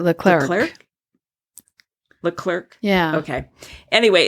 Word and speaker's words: Leclerc: Kelly, Leclerc or Leclerc? How is it pronounced? I pronounce it Leclerc.